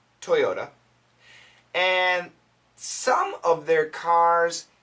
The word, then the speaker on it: Toyota: also from ap news this regards toyota american pronunciation toyota toyota toyota and some of their cars have a steering